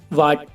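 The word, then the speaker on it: what: और इसमें देख लो गाइस, डब्ल्यू के बाद एच है तो यह एच साइलेंट है। ऐसे और भी एग्जाम्पल हैं, जैसे बाइट, वाइट माने सफ़ेद, वाट, वाट माने क्या, और ऑनर और आवर में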